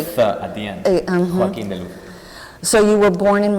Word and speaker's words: Joaquin De Luz: Okay, in Spanish, the right way and the real ways, it will be Joaquin De Luz. Joaquin De Luz. Yeah, it's very important to have the lisp and the Absolutely, that's and very...